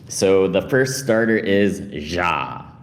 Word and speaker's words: Xia: So the first starter is Ja, right? So apparently it's Ja. So kind of like a weird pronunciation of the X here.